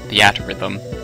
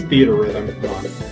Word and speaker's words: Theatrhythm: I always pronounce it theatrhythm. No, it's theater rhythm.